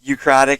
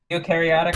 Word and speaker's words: eukaryotic: we're relatively close i'm on like ukratic and procratic cells right now nerds eukaryotic and prokaryotic yeah that's how they're pronounced i don't either i